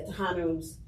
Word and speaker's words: Tejanos: with Tejanos, and I'm not sure if that Tejano, is that how you pronounce it? Is that correct? Yeah, Tejanos in particular, and if in connection with making